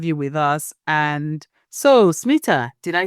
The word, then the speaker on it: Smita: If you read it, you don't often pronounce it correctly. So, it's smitha.